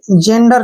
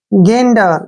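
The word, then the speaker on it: gander: पर देखिए क्या पढ़ेंगे जेंडर नहीं पढ़ना है जेरेज नहीं पढ़ना है कैसे पढ़ेंगे जी जो यहां पर जी का उच्चारण होगा वो ग के रूप में होगा और ए से ए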